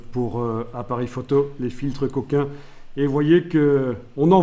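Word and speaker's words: Cokin: Ah oui, quand on photographiait en noir et blanc avant, on mettait des filtres couleurs, ce qu'on appelle les filtres coquins, mais ça s'écrit avec un K, ne vous excitez pas, pour empêcher certaines lumières d'arriver.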